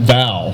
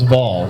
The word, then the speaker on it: Vaughn: bad well that's okay people used to pronounce my name Bao all typing right Bao what's going on it's like no it's Vall but no I get